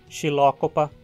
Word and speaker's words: Xylocopa: homulos UPA é a vogal Y é para você aprender a mesma forma que a vogal I links Ciane a fila chrysophyllum xylocopa princeton a sequência a e